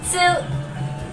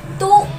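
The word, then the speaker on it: つ: Ta, chi, tsu, te, to. In this also, these two are exceptions. Ta, ti नहीं होगा, ये होगा chi. Chi, ti नहीं होगा, ये होगा chi. Next exception is tsu. Tu नहीं होगा, सु होगा।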